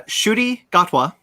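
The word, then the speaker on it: Ncuti Gatwa: gonna say oh uh i actually looked this up it's pronounced uh shooty gatwa um from sex education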